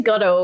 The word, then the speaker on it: Godot: I've been using Godot, which is sort of like Unity. How do you spell that? It's like waiting for Godot.